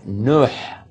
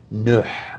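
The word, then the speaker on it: نوح: And Nuh is how it's pronounced in Arabic. Nuh, with a ha sound at the end.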